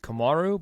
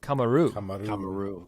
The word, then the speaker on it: Kamaru: that to an extent because sometimes they say his name komaru but sometimes I hear like kamaru yeah yeah buffer says kamaru when he announces him uh anyway getting